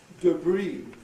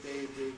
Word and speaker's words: debris: So Americans say ballet, cafe, debris, garage, right? Whereas we, of course, say ballet, cafe, debris, garage, with our fondness for getting the stress to the front of the word.